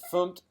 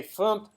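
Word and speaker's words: fmt: a FUMT package, and that's the way you say it in Go. I'm not sure if that's how you say it in other languages, but in Go, I have been told by Bill Kennedy, the author of Go in Action, that you say FUMT, Todd, FUMT, not format, FUMT.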